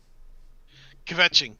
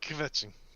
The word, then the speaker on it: kvetching: Kvetching, yes. Yes, you're right. I didn't want to say it out loud because I wasn't sure I was going to say it right. Yeah, kvetching.